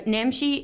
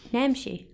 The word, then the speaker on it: Namshi: Now, Namshi is so efficient. I love how you say Namshi. Namshi. Namshi.